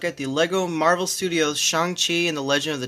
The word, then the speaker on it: Shang-Chi: I know my last Shang-Chi video, that was before the movie came out, and so I didn't know it was pronounced Shang-Chi, and I called him Shang-Chi the whole time.